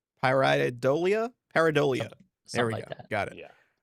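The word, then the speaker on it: pareidolia: And that's what parad how do you pronounce this again? It's a paridola. Paridolia.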